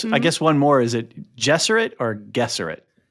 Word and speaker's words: Bene Gesserit: It's Bene Gesserit. Okay, good, good, good. All right. We're all on the same page. No, no, no. It's not No, it's definitely not a hard G.